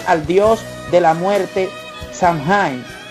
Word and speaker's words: Samhain: dios de la muerte shanghai pronunciado sama así a quienes serían